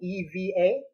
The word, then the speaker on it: EVA: foam it's what everybody else uses yeah it's pronounced EVA foam evva foam and the resistance like the exercise is